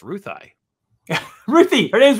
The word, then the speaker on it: Ruthie: I'm excited because we're going to get a canonized definition of how to pronounce Ruthie. Ruthie. Her name's Ruthie.